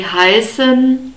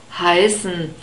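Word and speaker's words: heißen: an earth sound and you can say hyson or hyson so this unstressed e is hardly pronounced and we have a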